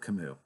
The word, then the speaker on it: Camus: Anybody that has ever read Albert Camus, and if you look it up, it's spelled Camus, so it looks like Camus, but it's Albert Camus.